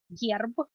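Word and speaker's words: герб: First of all, the coat of arms in Russian would be gerb, and that's gerb, one syllable.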